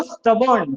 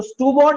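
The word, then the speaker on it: stubborn: ये फटाफट से बोलो, स्टबर्न। क्या होता है ये, स्टबर्न, ठीक है ना। तो स्टूबॉर्न नहीं होता है, क्या होता है ये, स्टबर्न, ठीक है।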